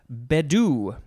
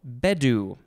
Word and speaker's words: Bedu: uh next we have badou no bedu i think the emphasis is on the first syllable b-e-d-u it is a